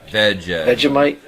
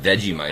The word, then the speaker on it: Vegemite: Vegemite. Isn't that how they say it on the song Down Under? She gave me a Vegemite Sang. Exactly. Right. Not not veggie mite.